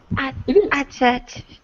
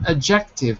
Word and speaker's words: adjective: what is it adjective adjective yeah by the way not adjective but adjective uh adjective adjective adjective adjective that's it first syllable is a stress and you're right and